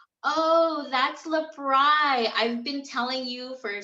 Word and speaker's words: L'BRI: i told her i don't know it's some labrie lebron i don't know how to say it she's like oh that's lebron i've been telling you for so long that